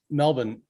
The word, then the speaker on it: Melbourne: Yeah, no, Melbourne is definitely the way that we pronounce it, or Melbs, or Yeah, Melbs, I think some people call it here, but Melbourne is we just don't use R at all unless it's at the